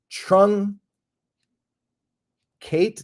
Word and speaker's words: truncated: name of that word TR Ru n c trun Kate truncated I was adding an extra syllable shortened in duration or